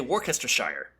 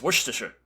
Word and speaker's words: Worcestershire: way it looks, I always want to say Worcestershire. But everyone has always told me, no, you're wrong, it's Worcestershire. And I'm like, well, it doesn't look anything like Worcestershire.